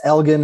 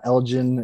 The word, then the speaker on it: Elgin: in texas it was oh yeah it's elgin it's not elgin it's like there's always